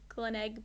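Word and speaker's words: Glenelg: but it's called the Stanford Grand Hotel Adelaide Glen egg beach yeah and it it was nice there's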